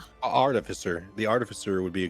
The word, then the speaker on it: artificer: Artificer. Art artisifer. Art. How do you say that word? Artificer. Artificer.